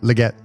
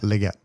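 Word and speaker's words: Liget: Leggett. How's that spelled? I don't know if I'm pronouncing it correctly, but you know the word legit? Like, that's legit, man. Yeah. Flip the I and the E. Leggett.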